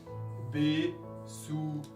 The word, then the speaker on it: besuchen: Besuchen. Besuchen. Suchen es buscar. Besuchen, visitar. Entonces, verbo con prefijo, pero primera persona singular. Ich besuche, no separable. Entonces, ¿dónde está el acento? En suchen. Besuchen. Siguiente verbo.